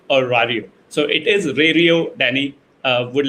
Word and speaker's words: Rario: So the question is, I hear different versions of Rario, the pronunciation, and they want to know if it is Rario or Rario. So it is Rario, Danny.